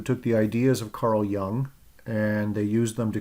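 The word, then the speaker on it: Jung: okay so carl young i know his name starts with a j but it's pronounced uh young like he's not old he's young but uh he was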